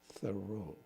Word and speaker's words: Thoreau: works of Emerson, and as he pronounces it, Thoreau, or let me see if I can get it right. Thoreau. It's a little different than I typically do it. I usually use Thoreau. He says it's correctly Thoreau.